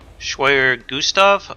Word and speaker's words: Schwerer Gustav: 3 confirms that he was talking about the schwerer gustav I don't know if I'm pronouncing that correctly that is correct okay actually